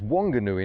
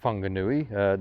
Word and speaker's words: Whanganui: is a struggle so turns out it's Whanganui not fungal nuit the f thing doesn't seem to work down here but there's some very